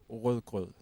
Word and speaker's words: rødgrød: It's a typical phrase that all Danish people use when they talk to Americans. They say, can you pronounce rødgrød? And they never can. You can always tell when you meet an American who's trying to speak Danish. You can hear the sound is very like a potato in the mouth.